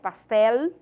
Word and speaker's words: pastel: tá pastel por exemplo escreve pastel pronuncia pastel só que em português a gente pronuncia pastel né o com som de u eh em espanhol a gente puxa um pouquinho o l né pastel Mas significa bolo não